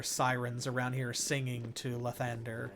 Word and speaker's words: Lathander: For some reason, more than once in the game, they pronounce it Lathander. And it is not Lathander, it is Lathander.